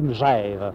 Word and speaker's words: Megève: ni mais on dit meève on ne dit pas mais ni me on dit meève simplement il faut prononcer meève puisquon dit pas Gève on dit Genève et on ditve moi